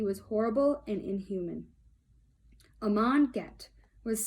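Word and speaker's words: Göth: It's spelled kind of weird, but it says it's pronounced Get.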